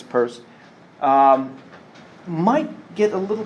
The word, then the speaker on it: Peirce: purse as we'll see it looks like it's pronounced pierce but it's purse um might get a